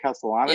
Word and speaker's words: Castellanos: Is that how you say it, Castellanos?